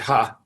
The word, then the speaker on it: He: it's pronounced dr ha it looks like he but they pronounced it ha and dr ha used